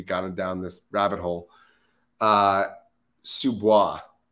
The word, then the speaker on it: sous-bois: Sous-bois. How do you spell that? I'm not it's on, you on your sheet there. Oh, okay, there we go. S-O-U-S-B-O-I-S. Oh, so it's spelled like sous vide.